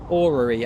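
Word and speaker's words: orrery: how you say it boring yeah orery okay so or that's that's the way to remember it aurery uh whatever's doing the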